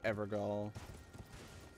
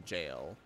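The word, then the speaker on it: gaol: a okay it's not pronounced skull right it's pronounced jail i think someone in game pronounce the jails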